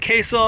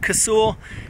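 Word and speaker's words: Casull: it's a big round i pronounce it kazul i've heard queso i've heard casual it's a 454.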